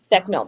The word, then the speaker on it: Becknel: Becknel, that's how you say it.